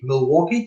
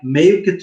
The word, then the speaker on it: Meeuwke: I noticed that you say Milwaukee 12, but you pronounce it like Meeuwke 12. That's Dutch.